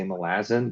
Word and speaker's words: Malazan: That's why I read I'm trying so hard to say Malazan because I don't pronounce it that way, and I can't force my brain to, but I know it's correct.